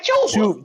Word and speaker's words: Chuba: for 92 and then dudes come on man pronounce the man name right chuba man chuba CH chuba chubba chubba hubba he had 92